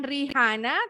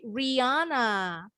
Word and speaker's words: Rihanna: nama penyanyi Amerika bacanya juga bukan Rihanna tapi Riana Riana sama kayak tadi